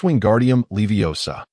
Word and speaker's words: Wingardium Leviosa: You mispronounced the ending of the incantation. It's Wingardium Leviosa.